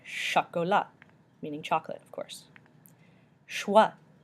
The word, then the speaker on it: chocolat: means pickle and french choco la sha Cola not Chocula but shot go luck meaning chocolate of course